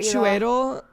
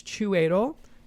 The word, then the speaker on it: Chiwetel: So, except the first name, I don't think I'd pronounce it that way. Chiwetel is probably how I feel like, I'd say like Chiwetel.